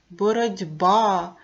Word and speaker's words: боротьба: потім його фонетично транскрипцію у слові боротьба відбувається уподібнення глухий ти уподібнюється до парного дзвінкого д перед дзвінким би ставимо наголос боротьба наголос на а рахуємо букви та звуки